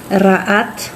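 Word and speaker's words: רעת: En hebreo es la palabra ra'at. Resh, Ain, Tav, y se pronuncia así, Ra'at.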